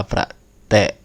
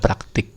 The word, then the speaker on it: praktik: KPI kepanjangannya adalah kerja praktek Kalau tulisannya memang praktik gitu ya Indonesia bakunya praktik kita bacanya praktek nah ini ini kalau